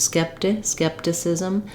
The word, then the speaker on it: skepticism: Then both of our letter I's say the I sounds. They're going to be quick and reduced, skepticism. Maybe a little more length on the sis syllable than on the t syllable. That's going to be the fastest one. We have letter C saying the S sound and letter S saying the Z sound.